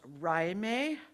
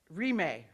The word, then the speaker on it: Rimé: It's pronounced Rimé. Rimé.